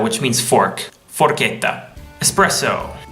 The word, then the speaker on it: espresso: means fork for Kenta espresso a common mistake is expresso with an X probably because of the